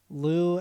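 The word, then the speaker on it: Lous: is going to be lou and the yakuza and that's l-o-u-s um and yakuza's spelled phonetically um this is a like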